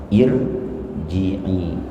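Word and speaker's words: ارجعي: Firaun Fir tipis Firaun tapi kalau irjii di sini dibacanya takhim tebal Kenapa karena kasrah di sini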